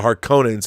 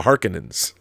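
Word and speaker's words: Harkonnen: Cheney Cheney not Chie and apparently they were mispronouncing everything in David Lynch's Dune because it's not the har conans it's the Harkins who knows I've had to readjust my entire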